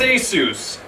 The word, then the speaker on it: ASUS: how to pronounce it a as in a lamu Seuss as in Dr Seuss as Seuss okay Aus Rog got it